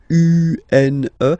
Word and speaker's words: une: Then the feminine article is here, and it's easier because if you have this U-N-E, then you pronounce it une, okay?